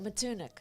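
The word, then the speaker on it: Matunuck: Oh, Matunik.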